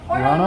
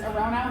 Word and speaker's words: Orono: so we are at how do you say your name yeah or no brewing i know the gps probably says around out but that's not right yeah i don't know